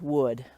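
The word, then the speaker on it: woad: that my friends is called dyers wood or dyers won't it depends on how you want to pronounce it but it's spelled d ye er s w o a d and this plant was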